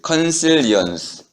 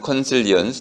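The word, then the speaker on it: consilience: 자, 16쪽으로 오면은음 그 휴얼이라는 사람이 제안한 어 이제 컨실리언스 또는 뭐 영어 발음은 두 가지가 있는데 하나는 컨실리언스 또 하나는 컨실리언스 저는 컨실리언스가 좀 좋습니다.이 미국식 발음은 좀 경박한 거 같아요.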